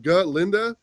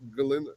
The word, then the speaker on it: Galinda: But Galinda is how it's pronounced, Galinda, not Galinda or whatever.